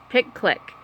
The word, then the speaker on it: PicClick: Yeah, and it's spelled. How is it spelled? PICCLICK. Yeah, pick click.